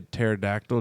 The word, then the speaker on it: pterodactyl: Probably a pterodactyl. Just 'cause how you spell it. Yeah, baby. You know, because there's the P in front of the. It throws everybody off.